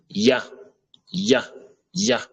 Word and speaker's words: ي: Déjà, pour prononcer le ya, je vous avais dit, le ya, il faut que la langue soit collée en dessous des incisives inférieures, comme le Y en français. Ya, ya, ya.